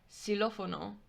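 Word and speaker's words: xilófono: hear in latin america for example we have silofono which is the same as xylophone with an x in english it's got an x in spanish but it's s c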